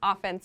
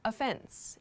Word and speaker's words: offense: no offense but so the pronunciation here is not offense like in sports offense and defense this is no offense no offense so offense